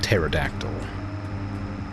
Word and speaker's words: pterodactyl: The P is silent. My bad. Looks like a pterodactyl. Time allowed for wood transport contract ran out.